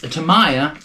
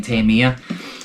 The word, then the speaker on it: Tamiya: going to say is i'm excited that it is tamiya said it right like seven times now i'm proud of myself because i've been flubbing it all day saying tamia i've been saying that for